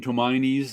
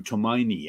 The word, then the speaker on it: Tomine: say his name too tomini I heard but I'm not exactly sure it's still meaning it's from it's Japanese tomine okay I know I've